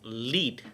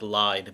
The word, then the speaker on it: Lied: The German term for this art song is Lied, not it's spelled like lied, but it's pronounced Lied.